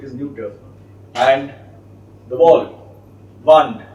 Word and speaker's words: Wand: NE and the wall wand just like you spell the magic wand w a n d but pronounced v d v so D